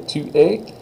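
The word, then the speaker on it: tu es: France to a is how you say it 2A 2A France you are French and was I talking to a boy or a girl there by the way Tua France I was talking to a boy because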